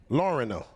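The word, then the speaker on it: Lorena: It's Miss Lauren. Lauren. It's not Lauren, it's Lauren. Lauren-o. Lauren-o. Lauren-o. I'm saying it right.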